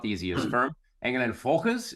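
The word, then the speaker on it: Engel & Völkers: Engel and Volkers is how you would say it if you were German.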